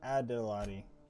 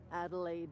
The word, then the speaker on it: Adelaide: You must be Adelotti. I have been told that among other things. I mispronounced her name. grandmother, the strange old lady who keeps flowers. But yes, Adelaide will do just fine.